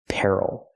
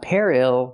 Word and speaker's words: peril: look at this word this word is Peril not Peril but Peril stress is on the first syllable and what is Peril